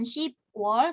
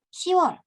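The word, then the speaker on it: 시월: karena dia ada pengecualian bukan you work tapi You are bukan sip wall tapi Seaworld oke lalu untuk pengucapan lidah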